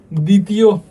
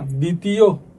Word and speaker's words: দ্বিতীয়: দেখো কি বলছে, শব্দের প্রথমে বফলা থাকলে উচ্চারিত হয় না, তবে উচ্চারণে শ্বাসাঘাত হয়, যেমন ত্বক, দ্বিতীয়, একটু কিন্তু প্রেশার লাগতেছে না, দ্বিতীয় ত্বক।